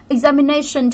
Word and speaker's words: examination: Examination trọng âm vào đâu? Examination, cái từ sần này thì trọng âm sẽ luôn luôn vào âm tiết trước nó cho nên sẽ vào từ này.